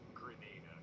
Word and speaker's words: Grenada: Well, given that that does rhyme with Almeida, the answer is no. That would be Grenada.